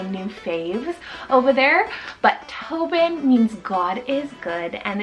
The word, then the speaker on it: Tobin: I then have Tobin for the boy side, T-O-B-I-N, Tobin, with the nickname of like Toby.